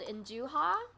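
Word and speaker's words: 'nduja: and between a sausage it's called in do ha you may have seen it at the shop before it's spelled n apostrophe D u J a Hindu how and it's a spreadable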